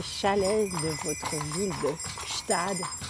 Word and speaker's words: Gstaad: Parlez-nous un petit peu de ces chalet de votre ville de Ktad. Est-ce que je le prononce bien ? Stad oui, vous le prononcez bien.